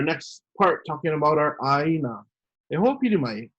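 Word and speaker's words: ʻāina: you hear the word aina or i see that word i want you to pronounce it with the conco ah you know they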